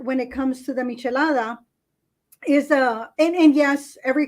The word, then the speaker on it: michelada: have to do these they're called chalada is that how it's pronounced it's a michelada so there's a history